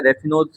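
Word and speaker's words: raffinose: इनके एग्जांपल और देख लेते हैं अपन, इनके एग्जांपल है रेफिनोज, रेफिनोज एंड स्टेयोज, ये प्रोनाउंसिएशन रख लेना।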